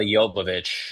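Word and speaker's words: Jovovich: Uh Mila Yopovich.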